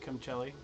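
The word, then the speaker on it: Camuncoli: I think maybe some of them might be Cumcelli. That's how you say his name.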